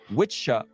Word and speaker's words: wicca: English wicket craft from wicca masculine or wiki feminine, pronounced witcha and witchha, respectfully, a donating someone who What was that again?